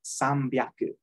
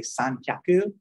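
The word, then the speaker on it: 三百: 200 ni hyaku, 300 sambyaku, the H turns into a B for the ease of pronunciation, basically. If you try to say san hyaku, it's kind of like 2 exhales in a row.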